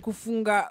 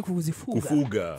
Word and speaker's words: kufuga: Andrew said kufunga madogi. Ni wani kufuga. Fuga. I have to say it like that so you can correct me. As in watu wenu sema Kevin amefika. Usasema Kevin amefinga, ni Kevin amefika.